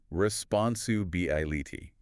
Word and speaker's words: responsibility: The key is where you put the stress. It's responsi. That bi syllable right in the middle is where the main emphasis falls.